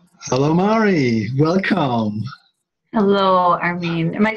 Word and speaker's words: Armin: Hello, Armin. Am I saying it right? Armin? Armin. Armin. Yeah, Armin. Yeah. In German, it's Armin, but that's a bit hard for Americans.